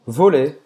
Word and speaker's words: volley: Je joue au volley. Ou seja, finge que esse Y no final não existe.